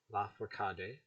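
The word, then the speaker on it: Lafourcade: la for que hade la forcade okay with the emphasis on the third syllable like a spanish word but verb nasty bear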